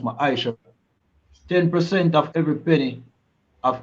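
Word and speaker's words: מעשר: Means tenth in the Hebrew and is pronounced ma'aisha.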